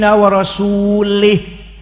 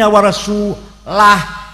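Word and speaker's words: ورسوله: Annallaha bari'um minal musyrikin wa rasulih. Sesungguhnya Allah tidak melindungi orang musyrik dan tidak melindungi rasulnya. Salah. Yang benar bacanya Annallaha bari'um minal musyrikin wa rasulah.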